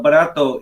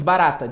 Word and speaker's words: barata: So but barato isn't cockroach. You know, it's barata, just barata.